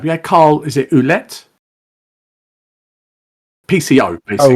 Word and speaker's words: Ouellette: I was just going to say that you had I can never pronounce his surname. You had Carl. Is it Ouellette? PCO basically. Ouellette, yeah.